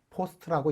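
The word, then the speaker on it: POST: 이 과정을 파워 온 셀프 테스트라고 하고 줄여서 포스트라고 읽습니다.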